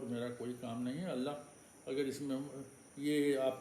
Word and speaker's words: اللہ: حرف اللہ کے پہلے اگر زبر یا پیش ہو تو حرف پورے منہ سے پڑھا جائے گا. ہوا اللہ، نصر اللہ. تو آپ نے دیکھا کہ پورے منہ سے بھرا ہوا منہ اللہ آپ تلفظ کریں گے. اور اگر اللہ کے پہلے اگر زیر ہے تو لفظ اللہ خالی منہ سے پڑھا جائے گا، جیسے بسم اللہ.